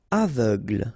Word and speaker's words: aveugle: Aveugle, same thing, final E, not really present.